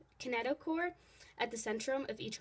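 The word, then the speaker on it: kinetochore: find a k a that's pronounced a kinet kineticore at the Centrum of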